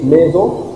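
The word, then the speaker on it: maison: هو في حرف زد كلمة ميزون ميزون لا ده حرف اس طب ليه سمعنا حرف الاس زد؟ لأن حرف الاس لما يقع ما بين دو فويال ما بين اتنين فويال بتنطق زد وده بمناسبة إن النطق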